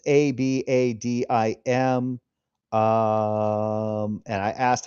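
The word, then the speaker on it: avadim: It's ab a d i m. Um, and I asked how it's supposed to be pronounced and it's abadim uh the stress will but it is singular evid.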